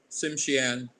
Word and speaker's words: Tsimshian: s s i m s h a Ann siman Simian okay it's uh it's an English uh